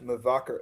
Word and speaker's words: Mevaker: Chef Mvacher Mvaker.